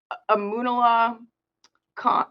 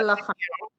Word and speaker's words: Amanullah Khan: I'm not mistaken, the president by law is Amunullah Khan. I'll have to get back to you on. I can't remember how to pronounce his name, but I actually, if this